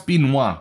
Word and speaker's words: Benoît: according according to google his first name is pronounce Benoit which is a lot easier to pronounce so we'll go with